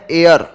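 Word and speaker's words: heir: जहां पर मैंने पढ़ा कि एच ई आई आर इसका प्रोनंसिएशन होता है एयर। एच इसमें होता है साइलेंट।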